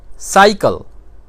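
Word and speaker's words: cycle: एक और लफ्ज़ ले लेते हैं साइकिल। साइकिल में देखें तो सी के बाद वाई आता है, साइकिल की स्पेलिंग है सी वाई सी एल ई, साइकिल।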